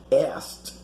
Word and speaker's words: asked: yours life in yours notice how the verb to ask in the past is pronounced ast like having a t in the end the k is not pronounced and kathy again knows